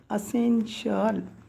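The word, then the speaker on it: essential: जाणे म्हणजे एस्केप सुटणे त्याच्यानंतर 44 44 म्हणजे असेन्शियल असेल मग असेन्शियल इथे पण असेन ए डबल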